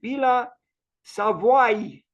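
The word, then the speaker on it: Villa Savoye: The correct pronunciation is Villa Savoy with a, so it is Savoy, not Savoie, Savoy. There is a touch of I at the end.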